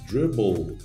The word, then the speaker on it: dribble: Para saber mais sobre a pronúncia desse L final, aí vamos dizer, mas dribble não termina com L, termina com som de L, né? Termina com E, como people, como o David falou, mas